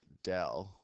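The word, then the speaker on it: ∂: d z d x uh and yeah we pronounce this Dell with that DZ DX this writing implies the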